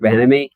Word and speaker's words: Bieniemy: Hines Well, Eric Ward, Bilemany. How do you say Eric Bilemany? he needs a job. Eric Bieniemy or That's Bieniemy.